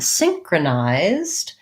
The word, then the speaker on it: synchronized: my z sound and then synchronized um changes the syllable stress to first syllable so then it would be sing nice um so we have the diphthong i here that's long uh secondary stress probably but long short short synchronized the zed says